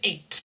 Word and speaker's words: eight: So the word caught is not with a th sound. It's actually pronounced only like the t. Caught. And that's the same with eight. Eight. Caught. We have a gh and all of these other weird letters there, but when we're pronouncing them, we can ignore them with or without.